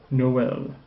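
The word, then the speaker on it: Noël: na e na okay likewise this word you probably recognize the has a so you pronounce the proceeding o separately Noel Noel let me read these as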